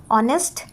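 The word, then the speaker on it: honesty: ऑनेस्ट इज the best policy. अब आप देखो यहां पे मैंने बोला ऑनेस्टी। ठीक है? एच जो है वो साइलेंट है। हम लोग ओ से स्टार्ट करेंगे इसको साउंड करना।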